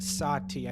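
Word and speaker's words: Satie: theatre of the absurd is last name SI TI e yes Oh today but according to wikipedia is pronounced satya yeah I beginning that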